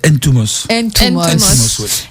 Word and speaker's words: Ntoumos: Ton nom de famille se prononce comment ? Alors c'est Ntumos.